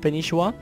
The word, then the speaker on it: Spanishiwa: Well, I've checked that, and it's actually pronounced Spanishiwa with 2 eyes, it almost sounds like.